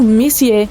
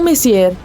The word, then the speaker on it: Messier: Bom, o M significa Messier, pronunciado Messier e não Messier.